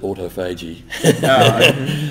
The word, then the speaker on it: autophagy: I don't know a lot about that, except to say I would pronounce it autophagy. Auto meaning self, and phagy meaning to eat yourself.